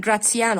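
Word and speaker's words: Gratiano: قلنا جراتسيانو، وبتتقال جراتسيانو عشان دول إيطاليين فتتنطق بطريقتهم، جراتسيانو and لورينزو.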